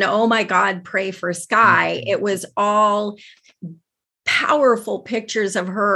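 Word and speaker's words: Schuy: So I started updating people with a page on Facebook called Sky is the Limit, but spelled like her name, S-C-H-U-Y, Sky is the Limit.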